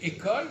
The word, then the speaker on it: école: Ils ne savaient pas ils savaient pas qu'il fallait pas prononcer le S. Donc pour les obliger à pas prononcer le S, on met un accent.